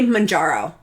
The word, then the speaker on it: Mounjaro: how do you say Manjaro I frequently say it improperly I don't know why I have I don't know it's manjar like a pickle jar manjar oh um and I